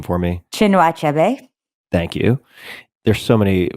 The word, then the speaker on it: Chinua Achebe: Another, Things Fall Apart by, can you pronounce this author's name for me? Chinua Achebe.